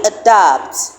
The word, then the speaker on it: adapt: in ER, and so it is only adapt that has the schwa sound at the beginning. Remember, we said that the schwa sound is a very weak, unaccented vowel sound that you will find in an unstressed syllable.